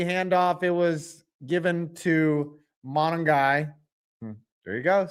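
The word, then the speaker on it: Monangai: It was given to Monongai.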